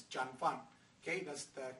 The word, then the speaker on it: Jun Fan: you notice on the show it says uh John fan not Jun fan a lot of people might